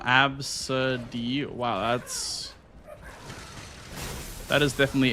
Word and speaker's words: Abcde: There's a kid in my daughter's class named AB CDE E pronounced oh Absid.